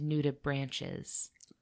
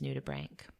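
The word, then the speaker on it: nudibranch: Atlanticus and I repeatedly referred to them as nuda branches. Okay, that's how that's how I would have pronounced it too.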